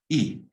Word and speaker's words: y: Now highlight, take a pen and highlight the E, and go to the English and highlight and. You pronounce it E. When you see a Y on its own, it's and, E.